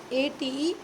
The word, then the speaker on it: ate: It is not eight, not a figure, not a numerical 8. It is eight, eight. It will be pronounced like this, eight, ate, eight.